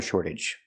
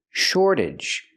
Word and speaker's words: shortage: So, I can say there's a water shortage. Pronunciation, shortage. We see the t pronounced like a fast d because it's after an r and before a vowel. shorta shortage and the age makes the sound idge idge relaxed and closed.